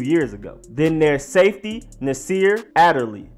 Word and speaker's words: Nasir Adderley: ago then their safety Naseer Adderley Nasir Adderley not in the sheer not in desire and not utterly it's a Turley Nasir a de lis